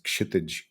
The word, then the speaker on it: Kshitij: My name is Kshitij, but most people can't pronounce it, so everybody just calls me.